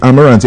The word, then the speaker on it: Amarante: How the Amarante, am I pronouncing that right?